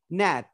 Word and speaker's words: gnat: यहीं पर हम GNAT, देखिए इसमें भी जी के बाद एन आया है, तो हम जी को नहीं प्रोनाउंस करेंगे, नैट।